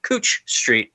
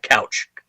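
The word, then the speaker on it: Couch Street: There's this main strip street in Portland called Cooch Street, but it's spelled couch. And they can always tell if you're not from Portland, if you're not from Oregon, if you pronounce it couch. They all laugh at you every time.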